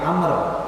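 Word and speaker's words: عمرو: Jadi kenapa dibaca Umar, ya, itu pada penulisan yang ujungnya nggak ada waw, tapi ketika di tulisan yang ujungnya itu ada waw, bacanya Amr, ya, bedanya gitu.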